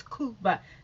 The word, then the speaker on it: Cuba: would pronounce it cuba it's not cute but it's koopa that being said let's